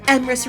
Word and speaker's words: Emrys: I have Emrys Rhymes with Abyss and ErisvonJabberwock.